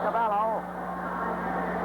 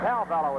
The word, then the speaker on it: Calello: All right, up in there now and Cavllo and Calello is pronounced and Calello the new member of the new jersey team moving in there again with little Betty Boyd.